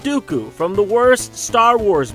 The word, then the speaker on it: Dooku: While Lee was portrayed in a number of memorable roles such as Saruman the White, and the rhymes with Poo-Poo, Count Dooku from the worst Star Wars movie.